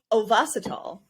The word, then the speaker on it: Ovasitol: Ovasitol is the correct way to say it, we've learned. However, I was pronouncing it Ovasitol for the longest time, and I confused Kylie.